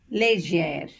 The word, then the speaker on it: légère: Accent aigu has the pronunciation A, deba, école, whereas accent grave has the pronunciations A, mère, père. This example, if you see, has both the accents. Légère, légère. Hope you understood the difference.